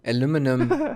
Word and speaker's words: aluminum: aluminium I guess yeah but that's not how you say it but that's fine yeah it's the British way I know aluminum aluminum bashes so um